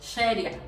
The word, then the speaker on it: Sharia: nos encontremos, puesto que en realidad es como una SH, sería Sharia. Sin embargo, si escribimos CH, por lo menos, por ejemplo, en Andalucía, si tendemos a pronunciarlo de esa manera, ¿no?